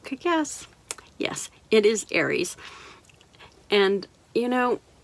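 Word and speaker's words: Ares: Yes, it is Aries. And, you know, it's spelled different than the zodiac sign, but it's pronounced the same.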